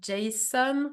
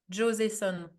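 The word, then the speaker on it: Joseon: asop but now it's beauty of Jason you know the Korean brand beauty of Joon I think it's how it's called do you know how you spell that the last beauty of well Jo son G for j o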